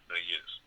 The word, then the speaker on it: Méliès: And Georges Méliès, I'm pronouncing it wrong, M-E, accent grave, L-I-E, the other kind of accent, S, Méliès.